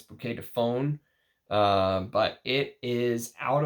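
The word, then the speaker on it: Bouquet de Faunes: people pronounce that but someone told me to pronounce it like you say phone not Fawn it's not bouquet Define it's bouquet to phone uh but it is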